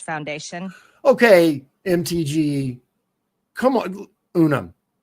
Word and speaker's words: Unum: Unum. Not Unm like Pluribus Unum. That's how you say it.